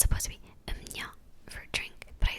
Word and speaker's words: 음료: Like when I always get confused with is 음료, it's supposed to be "음뇨", but I say 음료 because that's how it's written.